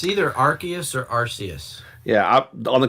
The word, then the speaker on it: Arceus: What is the actual pronunciation? I believe it's Arceus.